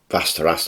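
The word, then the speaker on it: Västerås: in a place called vast Terrace I'm in Sweden now I think faster ass that's how you pronounce it so he's had 58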